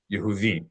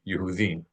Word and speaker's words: Yehudi: All right, so this shava is an u sound because it's followed by a guttural letter, and the vowel of this guttural letter is an u. Therefore, this shwa is also an u, a short u.